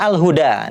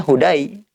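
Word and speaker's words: هدى: Contoh berikutnya al-huda. Ini contoh yang alifnya itu seperti ya. Memang karena asalnya itu ya. Tapi di sini alif ya. Kalau kita bilang ini ya bacanya hudai bukan hudai. Ini huda. Alhuda.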